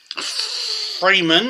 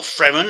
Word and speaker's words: Fremen: You've got the Freeman, or Fremen, however you want to pronounce that, which is sort of like the